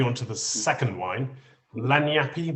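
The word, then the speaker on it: lagniappe: to the second wine lanyappy my pronunciation um you could say it like that yeah it's a new orleans word it's called lanyard which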